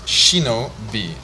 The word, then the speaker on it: Shinobi: Mine is slightly different. It's Shinobi.